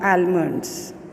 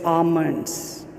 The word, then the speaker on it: almonds: Now today's mispronounced word is almonds. It is not almonds, it is almonds.